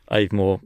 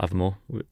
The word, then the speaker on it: Avamore: I think Avamore, obviously, or Avamore. You can say both.